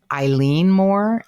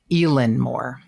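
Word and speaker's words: Eilean Mòr: And it's actually, I've heard it pronounced 2 different ways, Eileen Moore and Elin Moore. And it's Eilean Mor with like an umlaut over the O.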